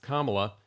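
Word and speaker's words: Kamala: unfortunately she doesn't Harris whose first name is pronounced kamla does not have any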